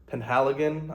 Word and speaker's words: Penhaligon: And, besides Roja Dove, I might be getting into Penhaligon, I believe is how you pronounce it.